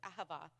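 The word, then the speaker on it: אהבה: It's uh it looks like a but the Hebrew lettering is um it's pronounced differently. So it's aaba is the word. A hava is not a warm fuzzy feeling or emotional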